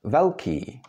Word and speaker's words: velký: In Czech words, you could find it, for example, in words like velký, which means big, or káva, that's coffee.